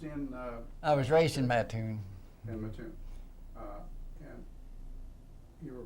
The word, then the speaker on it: Mattoon: No, I was born in Mattoon, Illinois. In where? Mattoon, Illinois. How do I spell it?